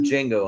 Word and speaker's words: Django: But unfortunately, we cannot have Django on there. That doesn't start with J. Nope. So, Yeah. Because the T is silent.